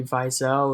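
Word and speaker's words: Wiesel: by a guy named le vie cell or yeah I think that's how you pronounce it because double use in German or are pronounced as vote not whoa so le vie so he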